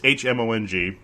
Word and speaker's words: Hmong: It's Hmong. The H is silent. And I do like saying the word Hmong, and I'm probably going to be saying that a lot.